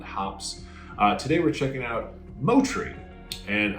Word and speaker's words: Moutere: Today we're checking out Moutere. And I know what the word is spelled like. But it is a Maori word, as many New Zealand hops get their names from that language.